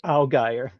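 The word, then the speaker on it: Allgeier: going to a backup and that's a Tyler Algy right now. He's RB20 Algy. I had I looked it up and he pronounced it alire.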